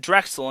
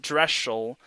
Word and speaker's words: Drexel: by samantha drexel yes her last name's pronounced drexel and not dress shell so drexel is has 220 kills